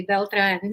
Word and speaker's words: Beltran: said my name um you said it correctly beltran so it's so refreshing to hear someone that can actually pronounce it properly well as we're going to